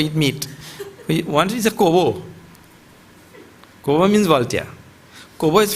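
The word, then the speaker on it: corbeau: In this kind of culture, we condemn Kobo also. What to talk about eat meat? Once is a Kobo.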